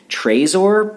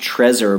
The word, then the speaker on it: Trezor: You can get the Trezor. I've also heard it pronounced Trezor, but I've heard it pronounced Trezor more than anything, so I'm going to stick with that.